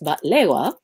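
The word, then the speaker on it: بقلاوة: And this is a famous baklava, pronounced batlewa, that is made in Lebanon.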